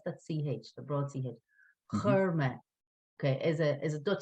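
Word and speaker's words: chuir: Okay, so the sound has to change a little bit here. Chur me.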